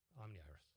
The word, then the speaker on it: Omniiris: Omniiris. Omniris.